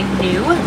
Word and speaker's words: gnu: You may hear locals refer to the wildebeest as a gnu, that's spelled G-N-U, and it's after the new grunting sound that the wildebeest make.